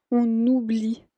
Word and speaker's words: on oublie: Entonces ahí ven que también hay la liaison ahí con la N y la O que es una vocal. On oublie tout.